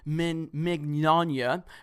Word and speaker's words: Mignogna: particularly minors by the way it's press it's pronounced men Magana like lasagna I say Mick what do I